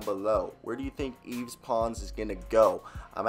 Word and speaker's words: Yves Pons: say his name because if I was like v's or why v's really weird but he's French so Yves pons let me hear your